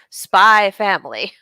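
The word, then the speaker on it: SPY×FAMILY: And we have been informed that it is said as Spy Family. Yes, the X is silent.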